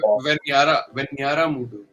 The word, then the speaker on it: Venjaramoodu: I'm sorry, Suraj and Venyaramoodu. Venjaramoodu. J is silent.